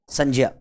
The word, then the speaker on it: संज्ञा: तो इसका शुद्ध उच्चारण करें, ये ज है, तो इसे क्या बोलेंगे अपन? संज्ञा बोलेंगे। क्या बोलेंगे दोस्तों? संज्ञा।